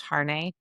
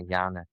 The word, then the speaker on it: Jarne: Sometimes for me, is it pronounced Harne? Am I saying Jarne. It's like, yeah, Jarne.